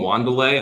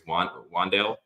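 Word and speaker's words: Wan'Dale: But I call him Wandelay. I don't think that's how you pronounce it. I think it's Wandale. But I say Wandelay.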